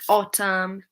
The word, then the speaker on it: autumn: So yeah, if we have M and then N at the end of the word, then the N is often silent. Like autumn, dam, hymn.